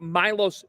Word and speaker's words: Milos: Milos Uzan. They do use the U. It's in the pronunciation guide, and I heard Fran Fraschilla bring it up on Saturday.